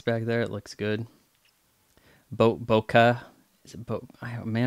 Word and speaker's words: bokeh: Bokeh. Is it man, I remember a few years ago I was learning how to pronounce. It's bokeh. Bokeh.